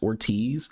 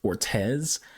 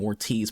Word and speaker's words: Ortiz: I've never seen the last name Ortiz pronounced as Ortez. It's like they're spelling it's like they're pronouncing it with an E instead of an I, but it's spelled with an I.